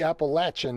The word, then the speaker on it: Appalachian: in the appalachian or as i'm told it's properly pronounced the appalachian mountains it's our first stop